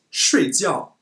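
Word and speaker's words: 睡觉: at this word here if we read it shreads yo it means sleep but if we read it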